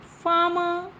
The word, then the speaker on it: farmer: Farmer, teacher, doctor, sailor. Actor, carpenter, singer, compounder. Note, do not pronounce the final R. R will be silent.